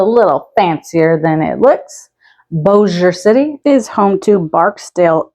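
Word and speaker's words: Bossier: how that is pronounced you might be tempted to say boss e ear I've even heard people think it's bosier but it's actually pronounced Boer a French influence here so it's a little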